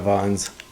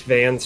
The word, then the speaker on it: Vans: Isn't that how the shoes are pronounced? Vons? No, it's Vans, isn't it? There's an A in there. Yeah. Is it Vons? Like A is pronounced ah.